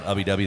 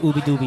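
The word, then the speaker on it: Ubbi Dubbi: fact they were uh they put on ubby duby that was here um a couple months ago that's how it's said every time I've I've read it I've never heard it said out loud I read ubby doobie I thought it was ubby doobie too everyone thinks it's UB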